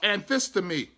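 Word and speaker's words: ἀνθίστημι: This word resist is anthistemi, is how it's pronounced.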